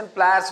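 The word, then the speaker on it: pliers: तो अब ये प्लायर्स जिसको हम लोग प्लास कहते हैं, तो प्लास नहीं होता है, उसका सही रूप और सही प्रोनाउंसिएशन प्लायर्स होता है।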